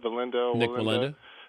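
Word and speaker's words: Wallenda: with the Nick am I saying it right valinda valinda okay I want a question for you and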